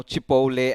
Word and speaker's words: Chipotle: The other day I did not know Chipotle and I was pronouncing it as Chipotle.